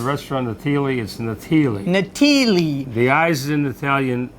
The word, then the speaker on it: Natili: restaurant well the restaurant of thiele is nathili natili the eyes in the italian are pronounced as e there you go but it's hard for people hey a lot of people say natalie's natalie whatever long as you come in as